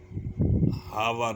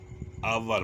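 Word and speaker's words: hour: यू जी H enough H अगर एच के बाद ओ आ जाए तो अक्सर एच अपनी आवाज खो देता है एजाम पल आनर एच ओ एन ओ यू आर नर नर नहीं पढ़ते नर पढ़ते हैं एच ओ यू आर आवर हावर नहीं पढ़ते आवर पढ़ते हैं आवर और नर एग्जांपल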